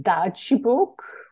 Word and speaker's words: Dadźbóg: This is pronounced Dadźbóg.